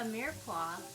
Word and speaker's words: mirepoix: It's called a mirepoix. The X is silent.